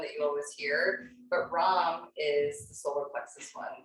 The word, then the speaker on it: Ram: So it's spelled R-A-M like Ram, but it's spelled like Ram. It's pronounced Ram or Ram if you want to do the tongue roll.